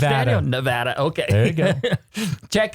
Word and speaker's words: Nevada: But if you happen to be out in Nevada, is that how it's pronounced, Nevada. Daniel? Nevada, okay.